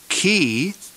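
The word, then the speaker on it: χῖ: fona f Fe f key is pronounced as a CH in the word Christ never as the CH in the word church it's always a hard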